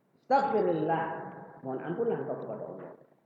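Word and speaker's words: أستغفر الله: Ya, kalau dia bersambung dengan huruf saja maka jadi kasroh. Istaghfir Allah. Jadi dibacanya nggak enak kalau istaghfir Allah, nggak enak. Jadi dikasrohkan rohnya. Istaghfirillah. Istaghfirillah.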